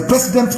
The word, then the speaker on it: precedent: It is a precedent law. Precedent, not president.